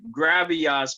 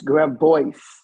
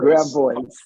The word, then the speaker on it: Gravois: I pronounced this right, Gravias Park. Did I say that right? It's Gravois. All right, thank you. Gravois. Gravois, yes. Bois, Gravois. Gravois, 2 syllables, okay.